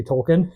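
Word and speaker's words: Tolkien: has all of Tolken's Tolken my wife always corrects me when I say Tolken she means you mean Tolken she's an audio book producer so correct pronunciations especially of author's names is very important to her so Tolken's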